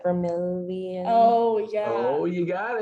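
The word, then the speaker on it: Vermillion: I thought it was like Vermilion.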